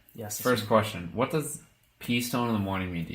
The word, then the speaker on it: P Stone: All right, it's spelled P_STONE. So it's Preston, except for with a little flair added onto it. You drop the R Yeah. and you drop the E.